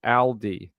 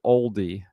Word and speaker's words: Aldi: In Australia, we pronounce it Aldi. sort of like very similar to the car name of Audi but um with an L instead of the U. So I've never people down here don't pronounce it oldi although I have heard that on American television.